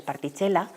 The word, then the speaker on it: particella: apuntaba una que es partichela que suena italiano no pronunciado en italiano particella se escribe y que sería como